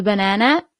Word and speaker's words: banana: So, the only thing that changes is the pronunciation. The banana is la banana. So not banana but banana.